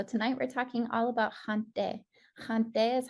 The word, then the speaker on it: haŋte: So tonight we're talking all about haŋte.